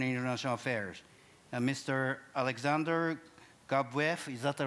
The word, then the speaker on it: Gabuev: Alexander Gabuev, is that the right way to pronounce it?